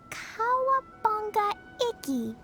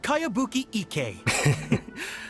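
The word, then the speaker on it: Kayabuki Ikku: one i've never heard of it hmm by cowabunga icky yeah this is a really strange name who's this cowabunga it's pronounced kaiabuki ek that would be me outlander brigade is a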